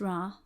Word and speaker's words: Ra: yes and show up Rah pronounced Rah was the god of